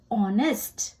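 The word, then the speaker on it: honest: के बाद ओ आए तो एच जो है वह साइलेंट हो जाता है तो एच की जो ध्वनि है वह नहीं सुनाई देती है जैसे कि वर्ड ऑनेस्ट ऑनेस्ट का स्पेलिंग है एच ओ एनई एस टी पर जो साउंड है इनिशियल सा एच ह वो नहीं सुनाई देता है वो हो जाता है ऑनेस्ट आई पिंक कलर से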